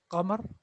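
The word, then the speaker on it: قمر: For example, this name here, that is Qamar, right? That is qamar. But sometimes we call it qamar, which is not right.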